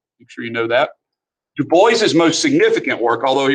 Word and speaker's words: Du Bois: w.e.b du bois and he did pronounce it du bois not like the french word dupois du bois and and i'd like